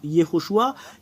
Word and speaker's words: Yehoshua: vous de voir mais la vraie prononciation du nom de Josué c'est Yehoshua quelle est la raison